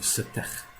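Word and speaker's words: Setekh: themselves, have another brother, who the Greeks referred to as Seth. I prefer the pronunciation of Setech. There are other pronunciations out there.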